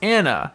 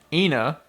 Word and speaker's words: Anna: in here because uh it's pronounced Anna not inna right what I say